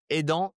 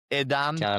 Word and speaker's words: Edan: You have any tips for me in in like the French language. It's Edon. There was this Spanish guy. He was saying Edan.